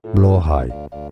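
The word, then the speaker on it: Blåhaj: is one of the pronunciations, Swedish, I believe. Blahaj. Alternative pronunciations in other Norse languages include Blahaj, Blahaj, Blahaj, or Blahaj, Blahaj, Blahaj, Blahaj, Blahaj.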